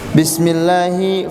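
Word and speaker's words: بسم الله: Bismillahi fauqal lam. Nah, ini yang pertama, tasdid yang pertama adalah di atas lam, lafal bismillah. Bacanya bagaimana? Bismillah. Harus ada penekanan di dalam bacaan yang terdapat tasdid.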